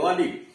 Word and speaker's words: Ghalib: जैसे गालिब, तो गालिब में लिखा हुआ GHALIB, यह यहां साइलेंट है, सीधे करें गालिब।